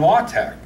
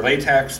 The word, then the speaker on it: LaTeX: a lot of this stuff you are in law tech la de x looks like law techs are latex but it's pronounced law tech it's a publishing it's a